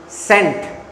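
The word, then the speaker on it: scent: सेंट। ये लफज़ क्या है अंग्रेजी का? सेंट। इसमें सी साइलेंट है। सी साइलेंट है ना?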